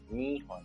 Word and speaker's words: 日本: Jadi dia bacanya dengan onyomi yaitu hon, nihon.